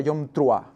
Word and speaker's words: Yom Teruah: Antes de nada, recordar que en hebreo es Yom Teruah, el día de la fiesta de las trompetas, le llaman, o la traducción o la pronunciación correcta sería Yom Truah, ¿de acuerdo?